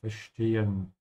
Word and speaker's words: verstehen: I don't understand why this creature, verstehen. Again here with the S before a T, pronounce it like sh, yeah, fish. So keep your mouth closed.